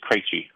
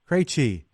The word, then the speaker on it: Krejci: It's Krejci. Krejci.